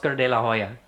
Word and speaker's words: de la Hoya: I don't think I don't think Oscar de la Hoya expects anyone to say you don't pronounce the H. In Spanish there is no H.